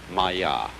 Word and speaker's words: Maya: this kind of thing is the Sanskrit term Maya I'm gonna write that down for you pronounced maiya and this word comes from a root in